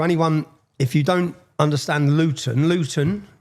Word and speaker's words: Luton: And so, anyone, if you don't understand Luton, Luton, see I pronounced my T there. We don't pronounce our Ts. I've done that for you. How do you say it? Lugan.